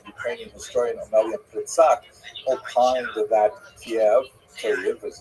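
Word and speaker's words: Kyiv: In fact, the great uh Ukrainian historian Pritsak opined that Kiev as it's pronounced today in the Ukrainian pronunciation cave was actually founded by Khazars which is kind of interesting.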